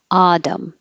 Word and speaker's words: autumn: but with nor Northern Autumn the t is between two voiced sounds the vowels so it'll change to a d Autumn this is the same